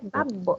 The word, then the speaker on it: babbo: Es más una pausa. Babbo. Hay una pausa y se pronuncia, después de la pausa se pronuncia la letra fuerte, solamente una vez y Claro, fuerte.